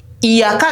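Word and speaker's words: إياك: Nah, di i di situ kan ada hamzah berharokat kasroh. Nah, kalau kalimat iyyaka mau itu di awal, mau itu di tengah, ataupun mungkin di akhir, maka tetap dibaca.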